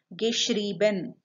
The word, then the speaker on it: geschrieben: while writing this spelling, because it is in the first one schreiben, E-I, but in the participle so I form it has become I-E. That is why the pronunciation as well changed. Geschrieben.